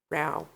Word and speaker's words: Ro: Row. Wow. Wow. Even though it's spelled Ro, but my family calls it Row.